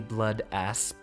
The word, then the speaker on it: Blood Asp: my all-time favorites the blood asp pronounce the p make sure that no one ever miss hears you oh look at that